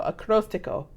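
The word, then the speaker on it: Acróstico: called acrost acrostico acrostico the accent is on the o so acrostico and the official video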